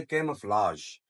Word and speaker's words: camouflage: जो आखिरी जी है इसकी प्रोनाउंसिएशन ज होती है। ज, वो जो 3 नुक्तों वाली ज होती है ना, रा के ऊपर जो 3 नुक्ते होते हैं, जैसे टेलीविजन कहते हैं हम, तो इसकी प्रोनाउंसिएशन है कैमफ्लाज।